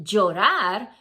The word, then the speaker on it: llorar: If you pronounce it llorar, you did good.